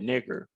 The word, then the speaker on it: Niger: Simon or Peter was called, this is actually pronounced like the brother said, nigger. And why is that? Our people used to call each other, quote unquote, nigger, which just means literally black, as in skin, not a race.